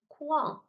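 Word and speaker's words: 框: Wang, fourth tone, quang, quang, means frame. Here we have this u, e, which again is pronounced way, way.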